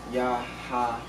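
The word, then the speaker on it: יהוה: Which is basically pronounced Yahaba, or some people pronounce the Vav, as Wav. It could some traditions pronounce it as a V, some traditions pronounce it as a Y. So it could also be Yahawah.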